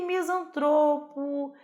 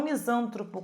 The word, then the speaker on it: misantropo: E misantropo, filantropo, né? São palavras paroxítonas, tá? E não misântropo, como está aí.